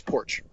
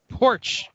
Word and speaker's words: Porsche: If you actually go through all of the English language pronunciations for the word broken apart, it's Porsche. Porsche.